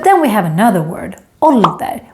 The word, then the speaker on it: ålder: But then we have another word, ålder, with two consonants coming after the å, and therefore it becomes short.